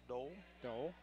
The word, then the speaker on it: Doll: lady's older sister that that is actually pronounced Dole Dole like the senator you're probably right and I forgot that we called her doll for years I'll start